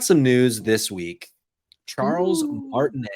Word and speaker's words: Martinet: news this week Charles martinet I think that's how you say it I don't think it's martinette I think it's not